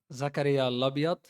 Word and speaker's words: Zakaria Labyad: First of all, Zakaria Lobot how you pronounce my name.